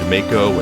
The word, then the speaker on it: Mako: the time just because there was this character named Mako and you do and it was spelled the same dot not that's how it was pronounced I might accidentally slip up and say Mako at some point but it's Mach Oh